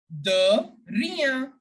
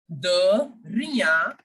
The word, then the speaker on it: de rien: You have to pronounce de like you pronounce the word the in English.